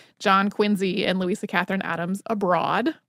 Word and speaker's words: Quincy: you may wonder why why we're pronouncing the name quiny with a z in it when quiny is quu I ncy uh that is not